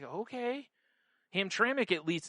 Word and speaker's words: Hamtramck: Like Hamtramck, I think it is. Which... Yeah. Looks like Hamtramck.